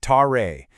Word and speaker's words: tare: It's the tare, pronounced tare.